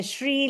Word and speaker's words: Sree: I would help them say first and then add the shri like the tree and I would help